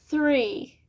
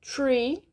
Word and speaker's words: three: dificuldade de falar inglês então o som do th a gente tem que colocar a língua entre os dentes e soprar three three se você acabar falando Tree é árvore né então fica um dois